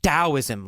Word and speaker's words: Taoism: Now, Taoism is actually spelled with a T, Taoism, but it's pronounced Taoism like it's a D.